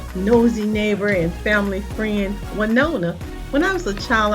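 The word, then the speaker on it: Willona: neighbor and family friend wona when I was a child I always called this character balona I I never knew until I got older the proper pronunciation for that character but good time was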